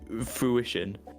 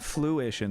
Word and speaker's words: fruition: not I don't know I've I've definitely heard someone say fruition fruition yes not Fluition though I might have misheard